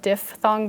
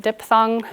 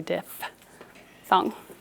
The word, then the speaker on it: diphthong: diff thumb in teachers it actually is pronounced diff with an f dif thong because it's spelled d-i-p-h a lot of people erroneously pronounce it diphthong which i think sounds